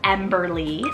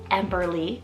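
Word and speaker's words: Emberlie: so next up is emberly spell e-m-b-e-r-l-i-e emberly this is beautiful it's long three syllables and emberly means fiery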